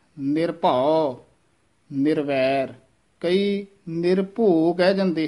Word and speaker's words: निर्भउ: इस तरह दो दो पद उच्चारण करने हैं। निर्भउ निर्वैर, ये भी निर्भउ वक्रे वक्रे नहीं बोलने पद, ये पद इकट्ठा ही बोलना है, निर्भउ निर्वैर।